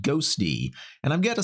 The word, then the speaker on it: Ghostty: a look at this new terminal application called ghosty and I've got to say playing around with